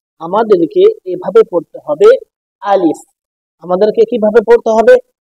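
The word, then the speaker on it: ألف: চোখ বোলানোর পর দেখবেন আমরা অনেক সময় ভুল করে থাকি যে আলিফ, আমরা অনেকে পড়ে থাকি আলিফ, তো সেইভাবে পড়লে হবে না, আমাদেরকে এভাবে পড়তে হবে আলিফ। আমাদেরকে কিভাবে পড়তে হবে? আলিফ।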